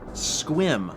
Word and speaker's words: Sequim: the last I don't I want to pronounce it Sequim so it's probably like sekim or something it's one syllable get out get out